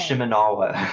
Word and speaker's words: Shimenawa: her running the 4-piece shawarma set, full 4-piece shawarma set. You know I can't pronounce The names. Shimenawa. Shimenawa's reminiscence. Not shawarma.